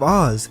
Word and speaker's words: Oz: with the wizard of oz since or's name is actually meant to be spelled and pronounced as Oz o z in Japanese the kanji